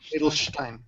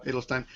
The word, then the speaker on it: Adelstein: It's pronounced Jake Adelstein. Is that right? Steinstein. Adelstein. Okay. Adelstein.